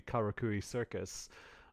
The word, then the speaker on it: Karakuri Circus: any shows that actually premiered aside from maybe karakuri circus that's how you pronounce it so yeah you got it yeah